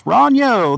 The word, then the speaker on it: Ronyo: Is it Ronyo or Ronio? I may be mispronouncing that. I need... That's awesome. It's Ronyo. There we go.